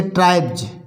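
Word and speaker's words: tribes: या बाई आए तो एस का उच्चारण जा पढ़ा जाता है। कैसे? जैसे ट्राइब्स, TRIVES, इसको बोलते हैं ट्राइब्स।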